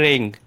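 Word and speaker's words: wring: में यूज होता है रिंग यहां पर डब्लू साइलेंट है स्कोरिंग पढेंगे तो में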